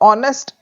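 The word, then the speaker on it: honest: से एन ऑनेस्ट मैन अब ऑनेस्ट एच से शुरू है पर एच यहां पर साइलेंट है और साउंड किससे आ रही है ओ से ऑनेस्ट तो ऑनेस्ट से पहले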